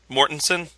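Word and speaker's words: Mortensen: real quick how is vgo's last name pronounced mortensson mortensson okay just wanted to confirm that for this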